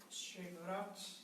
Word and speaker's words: Chevrot: As Pequenas Virtudes do Lar, de Monsenhor Georges Chevreul. Assim que se pronuncia.